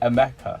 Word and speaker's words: Emeka: it Emeka or Mika? Emeka. Emeka. Emeka.